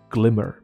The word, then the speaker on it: glimmer: 闪亮的一个字叫做 glimmer，同样是短音哦，不